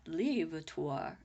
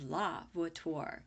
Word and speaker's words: Vuitton: still read her lips it's not levator it's La Vuitton said Mrs jarrassen gesticulating